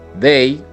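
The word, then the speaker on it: they: que estás viendo aquí ojo a esto se escribe con t al principio h como segunda letra una e y una y listo se escribe contra el principio pero se pronuncia con una de bay bay the day significa ellos o ellas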